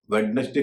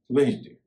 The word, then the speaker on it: Wednesday: तो ये तो रहा डी के बारे में कि डी कब साइलेंट होता है, जब वह एन से पहले होता है।